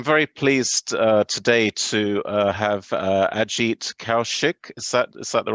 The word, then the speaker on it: Kaushik: So I'm very pleased today to have Ajit Kaushik. Is that the right pronunciation?